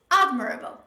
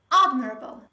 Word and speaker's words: admirable: Another example is admirable. Admirable, which means deserving respect. But most students, they tend to pronounce this word like admirable. Admirable, because the verb form of this word is pronounced like admire, and they tend to pronounce it a similar way. In the word admire, the stress is on